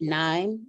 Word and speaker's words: KNIME: Like dime, I'm gonna say NIME.